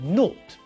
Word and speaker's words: naught: ways of saying oh when we say the number naught in British English we usually say note it's possible to also